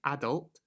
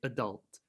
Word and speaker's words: adult: Generally, Americans will emphasize or stress the second syllable. So we in Britain might say adult. In America, they're more likely to say adult.